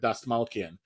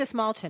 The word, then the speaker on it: Dastmalchian: by the great David Dastmalchian. Dastmalchian? I could be wrong. I think it's Dastmalchian, because I have said it wrong and been corrected.